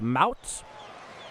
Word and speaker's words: Mounts: It's pronounced mounts. Okay. Mounts. Mounts come set at the birds.